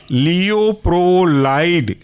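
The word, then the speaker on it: Leuprolide: है आपका इसी क्लास के अंदर वह है लियो प्रो लाइड लियो प्रो लाइड स्पेलिंग है लियो एल ई यू प्रो पी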